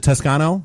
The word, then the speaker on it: Toscano: very uh we've got Jim and Danny from Tuscano media am I pronouncing that right is it Tuscano that is correct media thanks for having us